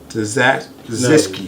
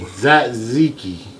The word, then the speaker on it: tzatziki: No, the T is silent.